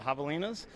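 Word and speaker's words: Javelinas: Uh the Havalas. Perfect. Yep. The J is an H.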